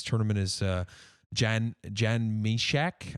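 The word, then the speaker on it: Mysak: is uh jan jan meshach i think that's how it's pronounced or my sack i don't know how you want to say it jan my sack it's meshack i think i'm i'm pretty sure yeah yeah i think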